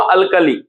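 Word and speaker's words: alkali: Metal का नाम से अल्कली, अल्कली, तो यानी कि इसको हम लोग देखिए उच्चारण से पता चल रहा है कि इसमें नंबर ऑफ सिलेबल कितना है, 3 सिलेबल है।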